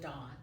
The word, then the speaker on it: Dawn: he yeah he would he would call me Don instead of Dawn and so I would